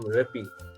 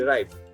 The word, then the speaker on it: ripe: But if you add an E, again, it doesn't become rippy. I don't think there's a word called rippy. The way it's pronounced and the correct way to do that would be ripe.